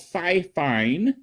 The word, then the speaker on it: Fifine: Amazon It Is by a company called fifine which I believe I'm pronouncing correctly I hope so uh